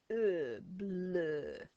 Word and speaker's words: bleu: So we've got a b and a oo and a bleu, bleu, bleu is blue.